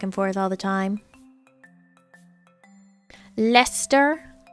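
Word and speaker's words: Leicester: forth all the time lester lester sure at least i didn't say shire it's not the biggest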